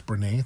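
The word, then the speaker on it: Brené: Brene Brown, I think it's Brene, that's how you pronounce it.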